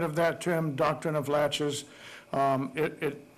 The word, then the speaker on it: laches: that term doctrine of laches it it's spelt laches la TCH yes just like a door latch and doctrine of